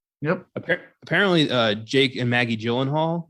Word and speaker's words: Gyllenhaal: Apparently, Jake and Maggie Gyllenhaal, their name is pronounced like Gyllenhaal or some crazy Swedish pronunciation that we've all just ignored.